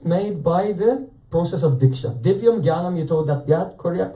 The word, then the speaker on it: Diksha: So, in this phrase, Diksha, there are two syllables, Diksha.